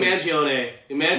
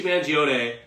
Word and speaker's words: Mangione: name man I think manag Luigi moong gone yo yo okay I used to work for Italian company so I'm pretty sure Luigi manone um yeah but yeah